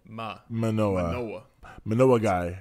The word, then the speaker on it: Manoah: today's story is about Manoa the man Noah no I don't it's spelled like it's just Ma and like Noah like Noah's Arc Noah right ma manoah Manoa Manoa guy it's